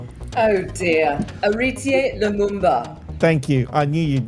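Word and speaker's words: Héritier Lumumba: the comment in question came after fellow co-host walid ali interviewed former collingwood magpies player harati la magum ba anch how do you say that name oh dear auritier lumumba thank you i knew you'd know it because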